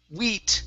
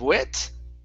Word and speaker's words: wheat: last one here is wheat wheat pasting okay give me a long e instead of wit wheat wheat pasting sorry wheat pasting okay